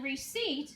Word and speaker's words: receipt: In receipt, the E is long and the I is silent.